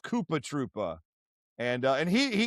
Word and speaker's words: Koopa Troopa: So, I believe he's letting us know right there that it is actually supposed to be pronounced Koopa Troopa.